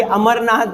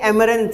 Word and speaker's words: amaranth: आगे है ये अमरनाथ लिख रहा है, ये अमरनाथ, ये अमरनाथ नहीं है, ये एमरंथ है, एमरंथ, AMARANTH।